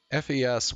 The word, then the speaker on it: FES: FES was the one who wrote the lyrics. You pronounced it like the first half of Festival, supposedly.